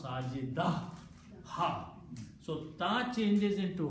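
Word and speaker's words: ساجدة: So full word is sajidatun. When you stop, you don't pronounce ta, you pronounce sajida, ha.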